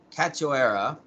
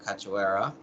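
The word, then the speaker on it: Priscila Cachoeira: women's bantamweight uh priscilla i think it's pronounced cat cachoera from brazil versus fellow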